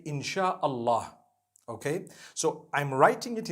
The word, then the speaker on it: InshaAllah: If you look at, the Malay language, they write in inshaAllah, the SYA. They pronounce the SY the way we pronounce SH.